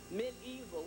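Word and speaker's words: mediaeval: period and that whole terminology of that word mid evil we have to look at that word it is spelled pronounced excuse me mid evil but it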